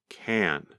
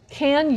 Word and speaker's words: can: And listen for how she pronounces the small word, can. Can you teach? You can be a teacher in a school. Can you teach? You can be a teacher in a school. Can you teach? You can be a teacher in a school. There's a difference between how she pronounces the word can when she asks the question, can you teach? And how she pronounces it when she makes a statement.